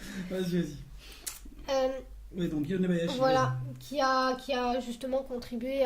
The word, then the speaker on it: Yonebayashi: prononcer. Vas-y. Oui, donc Yonebayashi.